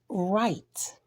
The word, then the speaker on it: write: Today we learned about words such as said with the I being silent, again with the I being silent, the word write, like you write with a pencil or pen,